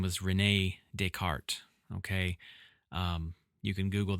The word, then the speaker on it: Descartes: his name was Renee Deart Okay. Um, you can Google that. Um, people from my area would probably pronounce it descartes, but uh, you know, that's incorrect. He was French, Renee Deart, and he is the